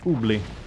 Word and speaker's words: oubli: Oubli in French is for to forget. It's pronounced oubli.